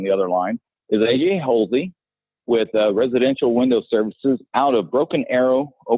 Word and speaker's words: Hulsey: As long as it's not Hussey or Husley or every other way that it's mispronounced, I'm good.